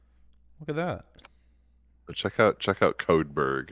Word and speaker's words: Codeberg: Check out Codeberg. How do you spell that? There's Codeberg, like iceberg, but Codeberg.